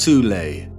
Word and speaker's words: Thule: Prior to the rise of the Nazi regime, there existed an occult secret society within Germany called the Thule Society, sometimes alternatively pronounced Thule, that had sub-factions within it.